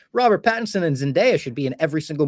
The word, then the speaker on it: Zendaya: Like, Robert Pattinson and Zendaya should be in every single movie ever. And I found out, by the way, it is Zendaya. You gotta say Zendaya, not Zendaya. So I was wrong on